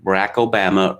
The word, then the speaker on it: Barack Obama: Same way, you know, Barack Obama rhymes with Alabama.